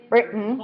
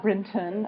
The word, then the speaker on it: Brinton: kind of getting swallowed we could say it's a glottal stop right like my last name how do you pronounce my last name written written written right it's not Brinton unless i'm you know